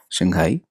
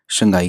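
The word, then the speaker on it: 上海: China का एक बड़ा मशहूर सिटी है शंघाई। फिनीन में उसको इस तरीके से लिखा जाता है, अपने लोकल एक्सेंट में शंघाई कह के बुलाते हैं, बट इसका असल प्रोनाउंसिएशन है शांघाई।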